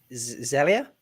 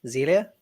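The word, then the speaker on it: Xelia: last last one the list now this is zelia zelia x-e-l-i-a is how her first name is pronounced mendes jones model and an actor but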